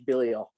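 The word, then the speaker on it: Billiot: orleans named ivy billio it's spelled billy ott but you know friends bilio and uh so this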